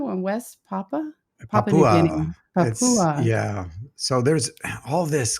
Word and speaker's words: Papua: Papua.